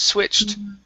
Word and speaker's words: switched: going on is that you need to pronounce a t with that Ed so right now you're saying switch on and you're ending at the CH sound okay so this is Switched switched okay try that again switched